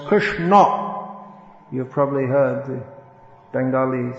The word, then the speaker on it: Krishna: that chris so krishna krishna in sanskrit is pronounced krishna you've probably heard the